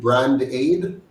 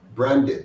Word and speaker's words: Brandate: it brand aid? No, brand it. Branded. Okay, branded.